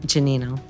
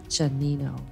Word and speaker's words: Gianino: have very special guest it's help me pronounce your last name janino janino I will probably say it wrong every single